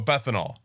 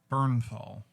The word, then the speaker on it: Bernthal: Oh, Bethanol. Josh Bethanol. Bernthal. I thought his name was Bethanol. Yeah, no, it's Bernthal.